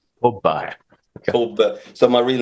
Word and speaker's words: Thobbe: Well, in Swedish that would be Thobbe. Thobbe.